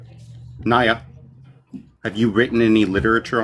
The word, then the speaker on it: Niya: His name is Nia.